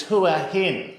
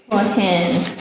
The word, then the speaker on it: Hua Hin: It's Hua Hin. Hua Hin.